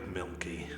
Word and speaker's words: Mielke: some point yes jacob milky like the drink only not spelled the same how do you spell